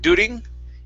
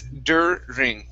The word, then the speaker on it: during: Instead of during, it's during. Okay, give me a good R.